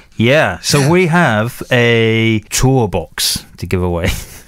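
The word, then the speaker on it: TourBox: so we have a tour box to give away how do you spell tour box uh just as it sounds t-o-u-r-b-o-x all right tour box tour box tour box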